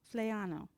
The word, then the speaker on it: Flaiano: Flaiano.